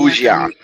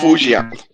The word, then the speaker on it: Fujian: Fujian. Yeah. Fan. Fujian.